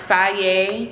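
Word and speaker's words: Fage: so I got these I'll be saying face but it's pronounced Faye yogurts I'm gonna use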